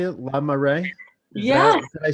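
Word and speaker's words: La Marée: megan from now how do you say it lamar ray yes i say right yes and so celebrate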